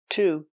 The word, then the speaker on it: to: Same preposition, to. He had an allergic reaction to peanuts. He had an allergic reaction to peanuts. Remember, to is pronounced t because it's not stressed in the sentence.